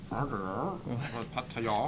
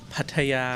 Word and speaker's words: Pattaya: They're not like Pattaya. You gotta say it like this: Pattaya. Pattaya. Pattaya. Pattaya. Yeah.